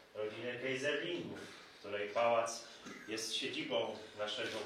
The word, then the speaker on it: Keyserlingk: Panie Mateuszu, przede wszystkim chciałam podziękować, że Pan pięknie wymówił nazwisko, nie Kayserling, jak często się słyszy, tylko Kayserling, bo to jest właściwa wymowa tego nazwiska.